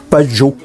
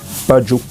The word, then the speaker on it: Bandjoun: La France a écrit Banjul, Bafoussam, Band. Non, en réalité, c'est le PE. Badjo. Oui. Bafoussa. Bamgam. Balang. C'est comme ça. Bon, le français a voulu prononcer facilement. On a écrit ba. En effet, c'est Badjo. Badjo, baga.